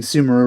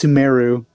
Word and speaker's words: Sumeru: lord kusanali you know i feel like i'm pronouncing sumaru wrong it's sumeru meru i guess it's more emphasis on the meru even though we haven't